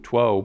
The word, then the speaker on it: two: in English we pronounce we spell it TW too but we pronounce it to you know it goes